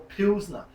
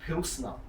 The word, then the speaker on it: pilsner: Is it pilsner or pilsner? S or Z? It's spelt with an S. So I'm going to say pilsner, not pilsner.